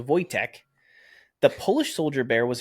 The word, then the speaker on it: Wojtek: Wojciech, pronounced Wojtek, so Wojtek, the Polish soldier bear was a real bear and has many memorials in places across Europe.